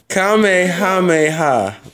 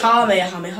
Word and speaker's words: Kamehameha: Kamehameha. Nigga. Kamehameha. Oh, shit. Nigga. The Kamehameha is not even a Kamehameha, no, I'm gonna go like.